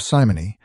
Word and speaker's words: Simony: Readers of Simony, I'm pronouncing it that way, is s i m o n y.